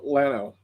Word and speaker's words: Llano: place up in uh llano it's it's pr it's spelled yano llano but in texas we pronounce atlanta because we're a bunch of hicks and there's a pla